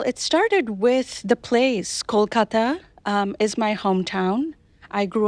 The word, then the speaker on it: Kolkata: And the story takes place in the near future in the city of Kolkata, India. Is that how you pronounce it?